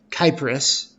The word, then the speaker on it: Cyprus: I heard people call it Cyprus, and that's no. Technically, if you're going to be grammatically correct, it's Kyprus, because they pronounce their C's as K's, so Kyprus. But we call it in America Cyprus, so we'll go with that.